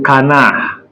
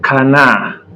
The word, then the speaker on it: canard: So, D is silent when it is the last letter. Our D in French is silent when it is the last letter. So, e.g., le canard, le canard, le renard, le canard, D is silent.